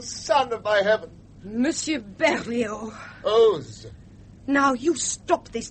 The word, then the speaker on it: Berlioz: Hector Berlioz, Miss Smithson. Oz. The Z is pronounced.